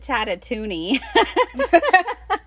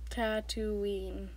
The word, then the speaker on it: Tatooine: all pronounce it correctly tatooine it's like the word tattoo and then like halloween so tattoo ah there